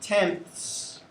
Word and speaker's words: tenths: You should notice that the word tenths is the same as tens, except there's a th in between the n and the s. And it's pronounced tenths.